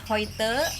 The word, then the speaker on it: heute: Bis heute Abend, ada EU jadinya dibacanya oi, bis heute Abend, sampai nanti malam.